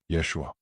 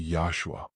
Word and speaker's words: Yeshua: His real name is Hebrew, Yeshua, or more accurately Yahshua, depending on pronunciation.